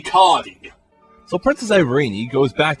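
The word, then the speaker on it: Curdie: Curdy. Oh, I guess I was saying his name wrong. It's apparently Cardi.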